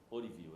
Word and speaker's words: Ourívio: Orivil, é assim a pronúncia.